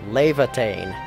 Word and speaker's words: Laevatein: Okay, so Rodriguez just pronounced it Laevatein. That's how it is. Now I can no longer mess it up.